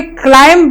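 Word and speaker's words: climb: जैसे कि पहला वर्ड है क्लाइंब, तो इसमें जो है बी का लेटर साइलेंट आ रहा है, क्लाइंब.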